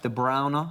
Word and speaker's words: De Bruyne: Actually pronounced De Bruyne, as Patrick Van Straten likes to point out to me most days. Is it actually? De Bruyne. Is it? Well, it's closer to De Bruyne, yeah, because it's Flemish, right?